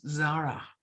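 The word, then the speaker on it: זרה: fire is the word zara like the word sarah but with a zed at the beginning zara from the root word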